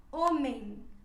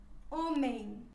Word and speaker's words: homem: exemplo na mão e quando a letra m vai ao final da palavra ela se pronuncia como se fosse uma n ficaria por exemplo dessa palavra homem homem e quando ela vai